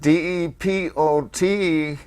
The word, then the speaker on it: DePoe: He changed the name to Charles DePeau, and instead of DEPOT, Yeah, like a train It's- depot. yeah, it's spelled DEPOE.